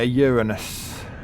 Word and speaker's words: Uranus: Yeah, Uranus. Or Uranus. Uranus. Oh, Uranus. No, it's not pronounced with the A-ness. It's phonetically ah. Why would it be A?